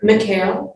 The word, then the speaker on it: MCAEL: She's executive director of the Montgomery Coalition for Adult English Literacy, called MCAEL. Can you pronounce that? McHale.